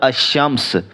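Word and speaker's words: الشمس: मसलन अल कमर और अमस अल कमर में अलिफ लाम अदा हो रहा है लेकिन अमस के अंदर लाम अदा नहीं हो रहा वह साइलेंट है इस बात का फैसला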